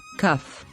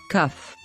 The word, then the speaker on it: kaf: has a dot inside this dot tells us to pronounce the letter with the k sound cuff cuff but when there is